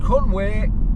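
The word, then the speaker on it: Conwy: guys look at the castle that there is Conway Castle that's how you pronounce it medieval as as you can get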